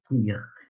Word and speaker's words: Tigre: Oh, it's Tigre. Oh, It's just, I pronounce it in English way.